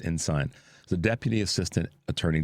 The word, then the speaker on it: Ensign: It looks like Ensign, but I think it's Ensign.